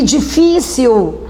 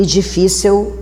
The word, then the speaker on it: difícil: E difícil. A sílaba tônica é Fi. Ela é uma paroxítona. Não é hiato porque o I tem F antes.